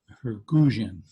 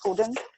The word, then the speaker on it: guzheng: And right now we're talking to Minnie Wang, and she's in China, and she's dusting off her guzheng. How do you? This one. Yeah, how do you pronounce it?